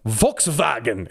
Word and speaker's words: Volkswagen: to instead of Volkswagen Volkswagen as the Germans might say uh to Volkswagen VTS